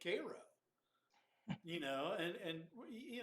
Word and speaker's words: Cairo: us to pronounce it like they pronounce it you would think they would want it to be cairo um and it confuses people i mean my son for ages he called the place in egypt cairo you know and and